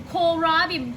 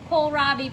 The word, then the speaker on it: kohlrabi: Tomatoes we have some kohlrabi I've been pronouncing it wrong but this entire time it's kohlrabi people miss leo made a mistake you got some fresh strawberries mr.